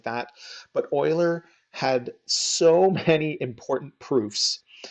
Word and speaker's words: Euler: and that's his last name it looks like Euler or something like that but it's actually pronounced Euler so if you ever hear of Leonard Euler you'll we that's what we're talking right now